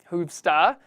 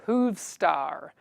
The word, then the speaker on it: Hoovstar: Again, that is Hoovstar, H-O-O-V star. I have to pronounce the R at the end, because usually I'd say Hoovstar. Star like a pirate, because that's how Americans talk, all pirates.